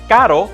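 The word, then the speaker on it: caro: two sounds right away the simple r is pronounced like the t in the word water with an american accent water water the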